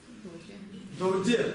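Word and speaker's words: རྡོ་རྗེ: Как это читается? Додже. Должно читаться додже. Вот, я говорил вам, есть несколько исключений. Их очень много, когда вот это ра читается.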